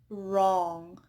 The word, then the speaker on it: wrong: So W is not pronounced at the beginning of words followed by R. Wrap, right, wrong. And then we also have words with the silent W, such as who, whose, whom.